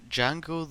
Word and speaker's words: Django: First off, Django the D is silent.